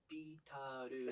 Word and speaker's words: Beatles: I know that a lot of Japanese people will say Beatles. そうそう、ビートルズって日本そう。 There's only two うんうん。 syllables in Beatles.